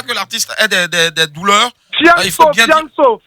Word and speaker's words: Fianso: Fianso. Voilà, Fianso, parce que j'ai entendu Fiasco, en fait.